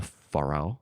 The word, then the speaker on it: Ferrell: them have hey man as long as you pronounce it right yeah it's actually will farell will farell yeah um so from here we